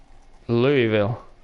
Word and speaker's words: Louisville: Louisville is pronounced with 2.5 syllables. The middle syllable is the half. Louisville.